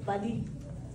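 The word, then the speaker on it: valiha: c'est mué le le le dernier mot le dernier syllabe c'est muet donc au lieu de V c'est Vali ok j'adore la sonorité de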